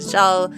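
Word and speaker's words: Xal: It's dumb, and I wanted to change it to Zal, which is spelled with an X, because it's a little bit of an homage, but it's not just a letter now.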